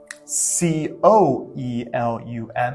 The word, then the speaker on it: coelum: And if you were to write Coelum, it'd be coelum, coelum, an oi sound.